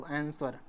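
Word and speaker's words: answer: आंसर। ठीक? आंसर कहा जाता है। इसको आंसर ऐसे कहा जाता है। आंसर इसमें डब्ल्यू जो है वह मूक है।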